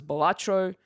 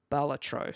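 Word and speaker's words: Balatro: Uh I for whatever reason thought it was Batro or you know Bal was it yeah I think Baltatro was where I was sort of heading towards in the pronunciation but apparently that is incorrect and it is Baltatro.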